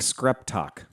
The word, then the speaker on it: Screptock: Yes, my new favorite name of the week is Mark Skreptok. Screp talk. Read it. It's Skreptok.